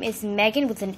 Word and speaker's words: Meghan: Her name is Meghan with an H, like strawberry 17. Yeah. So her name is Meghan Anabeth Molina. The H is silent.